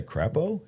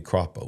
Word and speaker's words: Crapo: don't want to say crapo. His name's got to be Cropo, right? Not crapo.